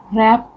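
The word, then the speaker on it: wrap: रैप द, डब्ल्यू इसमें हमारा silent है इसलिए आर का स्ट्रोक बनेगा.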